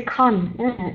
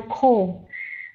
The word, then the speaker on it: call: And the word call, to say con, is not the N sound at the end. It's the L. So call.